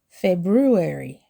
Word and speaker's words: February: February. My birthday is in February. Don't skip the R after the B.